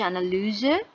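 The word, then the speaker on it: Analyse: আচ্ছা, অ্যানালিউজে, অ্যানালিউজে এটা ওয়াইটা ইউ এর মতন করে উচ্চারণ হচ্ছে অ্যানালিউজে, অ্যানালাইজ, অ্যানালাইজ করা।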